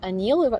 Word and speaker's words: Anil: exactly yeah you also have a song titled anil do i pronounce it correctly yes is it because of